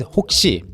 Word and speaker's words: 혹시: This one is hok-si. Okay, it rhymes really well with yeok-si.